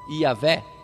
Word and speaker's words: Iavé: Dizem alguns que é Jeová, mas também isso aí já é aportuguesado. O nome certo seria qual? Iavé.